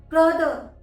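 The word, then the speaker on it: brother: इसी तरह से मदर, मदर, सिस्टर, ब्रदर। यहाँ पर आर साइलेंट है।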